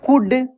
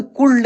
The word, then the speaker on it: could: अगर रहता COULD, इसको पढ़ते हम लोग कुड। अगर रहता SHOULD तो शुड, ना कि शुल्ड। देखिए खूब ध्यान से देखिए, एल साइलेंट है यहाँ पे, एल का उच्चारण नहीं होगा, शुल्ड, कुल्ड, उल्ड नहीं पढ़ेंगे, शुड, कुड, उड, ठीक है ना।